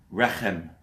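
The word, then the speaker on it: רחם: Rechem. Rachem?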